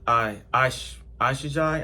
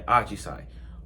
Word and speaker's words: Ajisai: Ashijai, am I pronouncing this right? Ajisai? Yeah, Ajisai.